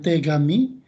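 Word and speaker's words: 手紙: Yang pertama ada kanji kertas kami, kemudian tegami. T itu tangan ya. Kemudian kami itu jadi ga, kami itu jadi tangan, tegami artinya surat. Surat ya. T itu tangan, kemudian kaminya menjadi gami, dibacanya jadi tegami.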